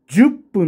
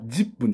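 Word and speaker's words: 十分: ないですよねでも正しい発音はジ分なんですよこれね日本語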